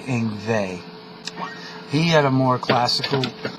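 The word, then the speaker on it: Yngwie: he was Swedish and it was spelled uh y n g wi IE and everyone thought it was uh Yang we and and we had to learn the pronunciation later on that that it was actually inve he had a more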